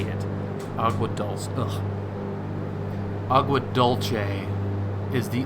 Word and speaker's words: Agua Dulce: What's the proper pronunciation? It is dulce. I don't know, dude. I don't think Spanish says it the same. And like locally, I don't think it's dulce. Dulce. Say it like a dumb American. Dulce. The Spanish are wrong.